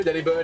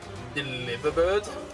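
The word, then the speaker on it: Delibird: Did you know Delhi bird is apparently supposed to be pronounced like delivered instead of deli bird? What? Deliver bird.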